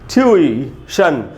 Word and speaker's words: tuition: देखिए सही उच्चारण क्या है, ट्यूई, ट्यूशन, और ट्यू के बाद जो ई है वो बड़ी ई का साउंड होना चाहिए, वहीं पर स्ट्रेस है।